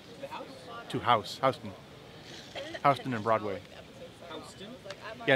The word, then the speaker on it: Houston: Houston and Broadway. Houston? Yeah, it's spelled Houston, but it's pronounced Houston.